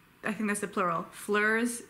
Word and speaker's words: fleurs: Fleurs is the noun, it gets pluralized to fleurs, except the S is silent, at least in modern French, maybe not.